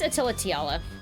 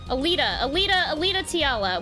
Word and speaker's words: Alita Tiala: Miss Attila Tiala, as you can see, or Alita, I'm reading it Attila, okay. Oh my god. Alita Tiala. When did I start fucking saying it wrong? Wintermute. You're reading her first name backwards.